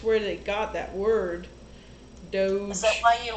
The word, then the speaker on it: Doge: Doge. It's like D-O-J. Doge. It's like Raj, except it's Doge.